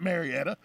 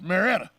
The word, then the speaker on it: Marietta: marietta you know exactly hello it's not marietta it's marietta yeah yeah and by the way you ask anybody from there that's how they say it now they were